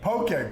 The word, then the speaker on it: Poké: what is a poke poke poke is it rhymes with okay that's your okay I